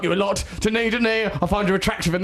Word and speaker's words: Denis: it's called Denise. And they changed it to Denis, the French pronunciation of Dennis, the male I thought name.